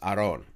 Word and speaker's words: Aaron: even gave up like my first name technically should be pronounced aron but even my family like they just gave up they're like we're tired of correcting people it's just aaron it's just aaron like